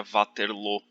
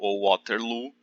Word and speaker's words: Waterloo: bélgica se fala francês a pronúncia correta do nome da cidade de vaterlô mas como a representa